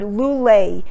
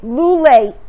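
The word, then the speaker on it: לולא: time of year look at the first word lulay which is spelled lamed vav lamid alef if you switch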